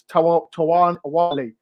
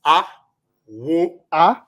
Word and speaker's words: Awoniyi: If you're going to be so much content that you are going to see through and see Awoniyi. That's how I pronounce his name.